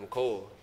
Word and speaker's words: Mecole: It's actually pronounced McCole. Okay. And I don't think a lot of people know that, but I guess there's so many people that say it the wrong way.